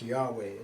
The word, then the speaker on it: Yahweh: This is pronounced Yahweh, isn't it?